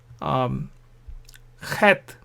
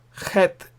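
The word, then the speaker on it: ח: This is a difficult letter to pronounce for English-speaking people, I suppose. Het. In Scotland, there are lakes called Loch Lomond. They have loch. So Bach, Loch. So that sound is het.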